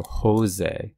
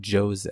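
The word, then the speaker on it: José: pronunciation um some uh the words with a J in Spanish they're pronounced with an H sound not always but often so Jose it's not Jose it's Jose also please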